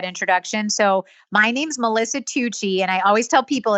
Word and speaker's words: Tucci: So my name's Melissa Tucci, and I always tell people it's like Gucci, but with a T as in Tom.